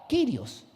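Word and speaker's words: κύριος: porque la palabra Señor en el griego se pronuncia kirios.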